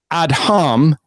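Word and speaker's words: אדם: is ad hum ad H a.m. that's gonna be important he's adding the letter H in there that becomes important and is phonetically pronounced ad hum ad H a.m.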